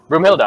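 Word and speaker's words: Broomhilda: say your name again brumhilda i'm trying to go with the german name broom um after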